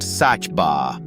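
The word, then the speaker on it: Saba: At number three, we do something wonderfully unexpected and trade sand for altitude, climbing a tiny volcanic peak pronounced Sachba.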